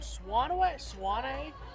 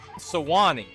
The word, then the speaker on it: Sewanee: Childers from Swanee? Is that how you say it, Brian? Sewanee. Sewanee.